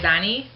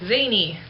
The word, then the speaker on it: zany: I always thought it was zanny. I don't know why, it only has one N.